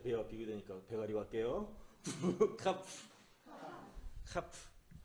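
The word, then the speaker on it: כף: 카프. 카프. 자, 카프. 발음이 어떤 거예요? 키역 발음. 예. 그래서 이렇게 하면 어떤 발음? 카. 네, 이 카프는 약간 거칠은 음이 나와야 돼요.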